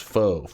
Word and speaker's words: faux: It's pronounced faux faux leather. Oh, faux.